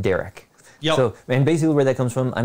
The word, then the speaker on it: DÆrik: know how to pronounce it but we just pronounced derek yeah so and basically where that comes from